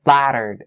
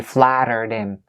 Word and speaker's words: flattered: And the next one is the word flattered. And so the ED part here in this word is pronounced as a D sound. So that's why you link it. You say flattered him.